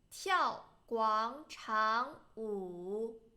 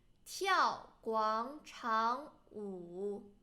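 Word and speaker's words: 广场舞: We should pronounce this one in second tone. 跳广场舞, 跳广场舞.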